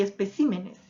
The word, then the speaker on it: especímenes: Luego tengo lo siguiente, por ejemplo, espécimen y especímenes. Cómo ha cambiado la posición de la sílaba tónica en esas palabras.